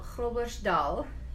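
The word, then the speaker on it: Groblersdal: region that we emigrated from a town called crow Bush Dahl I dare you guys to say that it's spelled gobblers Dahl G ro b le r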